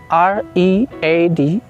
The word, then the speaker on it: read: Ada juga yang ditulisnya sama, dibacanya tapi beda. Misalnya, read. Verb 2-nya tulisannya sama, R-E-A-D, tapi dibacanya jadi read.